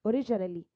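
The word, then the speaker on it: originally: في الأصل اوريجينالي اوريجينالي اوريجينالي، والجينا بنطقها ايه؟ بنطقها ج اوريجينالي.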